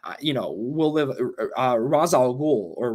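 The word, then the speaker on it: Ra's al Ghul: begins uh that you know will live uh raz al ghul or ray shall rule however you want to pronounce it in the movie they pronounced it razo cool he had some fucking good ones right like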